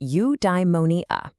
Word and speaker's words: eudaimonia: Okay, I've got a new word for you, eudaimonia. It's pronounced eudaimonia.